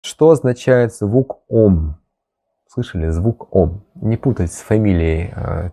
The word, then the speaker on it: Ом: что когда мы произносим слово «Ом», которое произносится как «Аум», когда мы произносим этот звук, эти звуки санскритского алфавита рождаются в разных точках нашего тела, верно?